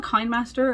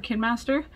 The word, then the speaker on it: KineMaster: Now I used to use, I call it Kinemaster or Kinemaster. It's pronounced K, or it is spelled K-I-N-E master.